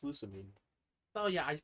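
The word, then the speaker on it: Lusamine: Except for Loose Marine. But it's not even her name. is that not her name? It's Lucamine.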